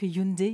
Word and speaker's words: Hyundai: effectivement alors déjà pour démarrer on va tous prononcer la marque Hyundai Hyundai comme ça je sais que pardon pas